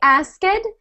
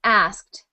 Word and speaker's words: asked: a past tense verb we don't say ask it we say ask with a tiny T sound at the end asked asked okay good good